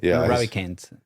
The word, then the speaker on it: Ravikant: I think it's Raven Neck. Ravi Kent. Ravikant. Yeah, the last name is is hard to to pronounce, but it is a great book.